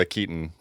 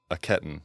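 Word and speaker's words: Akiton: Yeah, I think we called it a katon, but it's a ketton.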